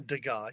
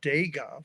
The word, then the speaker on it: Degas: when Alec Baldwin walks in and says, first of all, he doesn't say a Degas, he says a Degas, which is really, that's a weird way to pronounce it.